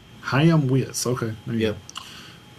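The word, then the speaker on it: Chaim Witz: Ha Witz. Ha Witz.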